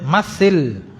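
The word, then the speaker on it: مَثِّلْ: Kemudian masil, berikan contoh. Ini bukan mislu ya bacanya, tapi masil, fi'il amr.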